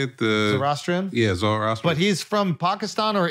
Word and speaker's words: Zoroastrian: Yeah, Zoroastrian.